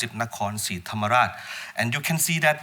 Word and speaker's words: Nakhon Si Thammarat: But in Thai, we pronounce it Nakhon Si Thammarat.